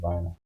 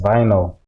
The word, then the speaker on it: vinyl: Let me just say vinyl. Yeah, it's vinyl. Oh, okay, it's not a silent one.